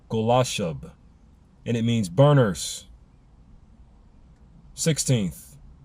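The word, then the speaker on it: Golachab: Pronounced, I believe, Golashub.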